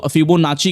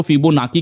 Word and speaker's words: Fibonacci: अब कुछ लोग इसको फिबोनाची कहते हैं, कुछ लोग इसको फिबोनाकी कहते हैं, कुछ लोग इसको फिबोनासी कहते हैं। ओके, अब डिफरेंट लोग अलग अलग प्रोनाउंसिएशन करते हैं।